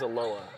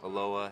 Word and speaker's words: Aloha: be great and you're from Oregon is it pronounced aloa yeah okay you're spell like Aloha but it's aloa right you're one of the first to get that right okay thank you uh how far where is aloa in Oregon it's just Southwest of Portland okay